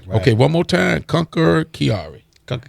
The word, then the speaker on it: Chiari: support her right okay one more time conquer Chiari conquer Kiara I said it right there chance right snacks